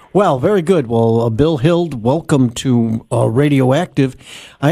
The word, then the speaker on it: Hild: Oh, and we're pleased to have with us uh from Consumer Research.